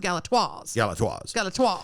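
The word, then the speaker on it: Galatoire's: Galators, but it's pronounced Galatoires.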